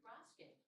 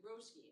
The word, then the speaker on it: Roske: And we would like to recognize the winner from Moriarty, Jude Roske. Roski. I pronounced it incorrectly. Roski.